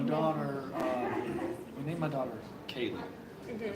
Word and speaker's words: Kaylee: We named my daughter Kaylee. Mhm. Spell it K-A-Y-L-E.